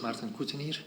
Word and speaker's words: Martin Cottenier: My name is Martin Cottenier.